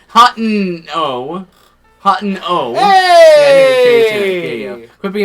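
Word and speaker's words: Hateno: Hoteno. So, it is hot no. It's not It's not hoteno.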